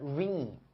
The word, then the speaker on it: reign: 为了维持 maintain 维持它的 reign，这个单词我在词汇班也讲过，它的发音特别像 rain，下雨那个 rain 是不是特别像 rain？